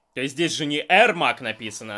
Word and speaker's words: Эрмак: Правильнее, конечно, говорить Эрмак, а не Ермак. Но как бы переводят Ермак и... Я не знаю, там как-то... То есть переводят по-русски типа Ермак, но читается как бы Эрмак.